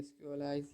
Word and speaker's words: Sequelize: here you can see just say sqlize here not sql as it pronounced as equalize okay here they are